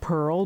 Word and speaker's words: Perle: Um I do want to say it is the word pearl, but it is spelled in the French translation P E R L E.